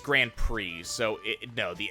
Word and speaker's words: Grand Prix: here uh usually it's grand prix so it no the x is not a it's a French word for them quickly so the X is not pronounced as this goes back